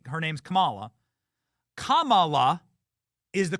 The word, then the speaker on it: Kamala: was Kamala is racist saying her name's Kamala Kamala is the correct way to pronounce her name you know they tried to